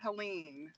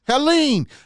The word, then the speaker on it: Helene: on how you say it it's it's helene helene that's just easy for me because my grandson's